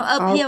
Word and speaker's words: appear: Nó appear bằng nhau không? Không phải đâu. Chọn dây hai ạ.